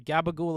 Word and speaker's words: gabagool: some salami oh okay gabagool is a meme from the sopranos interesting it's the new jersey italian pronunciation of uh capricola why the [ __